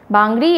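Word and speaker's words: Bangari: सो हर्षा भूपेंद्र बांगरी, बांगरी या बंगारी जैसे भी प्रोनाउंस किया जाता है, बांगरी होना चाहिए.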